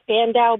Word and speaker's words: Spandau: So my pronunciation was Lee Span and Dow Chemical. So Span, never heard it. Dow, Spandau Ballet.